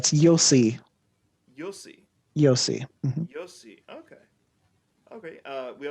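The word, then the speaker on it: Io sì: it's a y it's you'll see you'll see yossi yossi okay okay uh we also have speak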